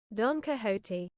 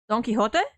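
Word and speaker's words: Don Quixote: But you you don't pronounce the like the is the X an H? Is the X pron like like an H? Doniote, something along those lines.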